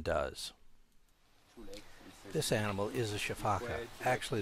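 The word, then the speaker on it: sifaka: is a shaaka actually the word can be pronounced several different ways uh sometimes it's called shafak or cak or caka or shaaka and uh I learned it as shaaka so that's what I'm going to say now their legs are so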